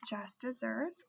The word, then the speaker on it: just deserts: through towards slide 17 you're going to see the term just desserts although it is spelled just deserts. Please note that in the criminal justice system we do consider this just desserts but it is spelled like just desert.